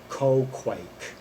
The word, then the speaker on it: Quagwak: Olias is helped by fellow magicians Ranyart, the harp-playing navigator of the glider, and Quagwak, pronounced Ko-Quake.